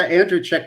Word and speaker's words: Andrucyk: Andrucyk. I was wrong. I lost the pool. Almost right, but I was still mispronounced it. I'm horrible. Well, actually, you got the Andrucyk right.